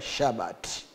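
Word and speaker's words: שבת: Lakini eh hicho kitu kilichoandikwa hapo kinachomaanisha sabato kwa lugha ya kihibrania inatamkwa shabati.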